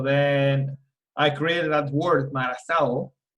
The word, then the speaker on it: Marazao: So it's MARAZAO. Marazao? That's how you pronounce it?